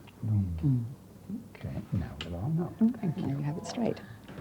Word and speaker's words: Lunghi: My father was Italian, so it's Sherry, or Chérie, but I don't insist on a French pronunciation. It's Sherry Lunghi. Lunghi.